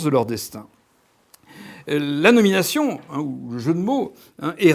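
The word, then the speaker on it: Haux: ou si on écrit en français, c'est O, H-A-U-X, Hawkes, ou Hawkes, Thomas Hawkes.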